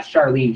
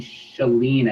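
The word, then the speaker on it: Chalene: So not Charlene, Shalene, I believe is how you pronounce her name, Johnson.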